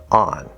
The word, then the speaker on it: on: The full pronunciation and the way we think of it is ah, the fifth vowel sound, and a regular front n, on. However, in fast speech, you will sometimes hear this be pronounced more like a schwa like uhn or a syllabic n.